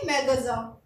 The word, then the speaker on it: magasin: ठीक है, IN sound है तो IN को हम साउंड देते हैं तो इसको प्रोनाउंस करेंगे मैगज़ा।